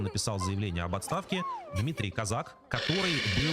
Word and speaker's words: Козак: И Казак, это вот правильное, кстати, ударение, я всегда думал, что он Козак, но на самом деле надо было проверить, действительно Казак, поскольку сейчас про него много говорят.